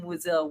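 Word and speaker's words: Wesell: bass boosted Alan Tudy saying Wessleton but just cut out the t at the end. So it's I am Wiselle Wiselle Wiselle.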